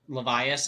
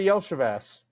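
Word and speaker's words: Iosivas: name for the Bengals levas is what it looks like that's not how you say it though Andre Yas yeah yeah that however you said that that is that is correct Brian Thomas Drake London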